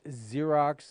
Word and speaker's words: Xerox: they're even better together why is there some weird names out like Xerox and stuff like that it just spelled with an X how who in the world made the sound like a z that's go through your